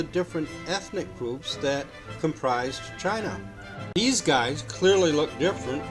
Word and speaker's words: Qin: Chinese emperor of the Qin Dynasty spelled Qi and pronounced chin that's him I believe